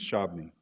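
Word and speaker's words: Shabbona: Okay, so he wasn't specifically ordered to relocate to Kansas, but how we pronounce the name is Shabni. That's how we've always done it.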